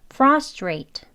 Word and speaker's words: frustrate: 있습니다 frustrate 이렇게 되는 거예요 천천히 해 볼게요 frustrate frustrate라고 발음할 수 있습니다 그러면 강한 발음과 와 약한